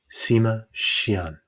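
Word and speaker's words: Sima Qian: Sima Xian. Xian, I was more or less right, is posthumously known as the father of Chinese historiography.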